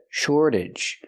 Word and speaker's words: shortage: Shortage. And the AGE makes you sound ij, relaxed and closed. Shortage.